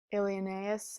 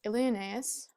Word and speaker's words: Ilioneus: Alienes, and the last, this whole part of his name is actually only one syllable, so that's how it works in the meter. But anyway, the greatest Ilioneus, or you could take